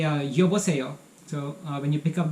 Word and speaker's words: 여보세요: And on the phone, you say 여보세요. So when you pick up the phone, you say 여보세요.